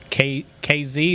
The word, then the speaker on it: Kazee: I saw where DeMonte KZ, is that how I say it, Bill? Yes. That's how you say it. I don't know if it's right or not. All right. That's how you say it. Kazee, I don't know.